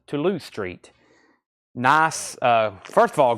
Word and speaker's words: Toulouse Street: but a lot of people say it's it's pronounced Toulouse Street nice uh first of all great album but